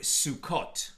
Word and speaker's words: Sukkot: When the vav is there, then we know for sure it can only be pronounced sukkot.